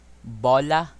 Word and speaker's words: bola: bola which means ball you notice the difference between how i say bola and ball just to give you a comparison i'm going to pronounce it flipped bella that's the difference bola you pronounce this as bola to eat some people